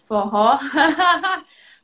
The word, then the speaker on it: Forró: Foho. Foho, this is one of the words that you pronounce it with like an H.